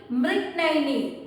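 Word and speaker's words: Mrignayani: That word you have to pronounce properly. Rani Mrignaini. That is a Sanskrit word.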